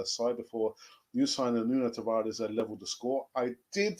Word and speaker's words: Tavares: Nuno Tavares, I prefer the Spanish pronunciation, Tavares.